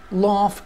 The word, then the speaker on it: laugh: laugh at jokes، laugh at jokes، لاحظ إن الـ gh تلفظ فا، laugh at jokes.